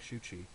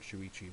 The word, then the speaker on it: Shuchi: me who looks like shuchi uh that's his name by the way not shuichi which I mispronounced last time anyway uh this shuchi